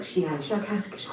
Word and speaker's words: Shiashakasksh: I will try to say it smoother by use of your human letters, something like Shiashakasksh with a very, very strong pronunciation of the SH and K sounds.